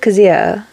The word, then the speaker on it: Kazuha: Because she said it, not weird, it's her name, but she said it differently than I would think it's said. Because she said, like, Kazuha.